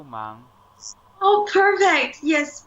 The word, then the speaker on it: 忙: 忙 means busy. So here is another final ang when we put it together. Yeah, you can feel the vibrate of the whole cavity.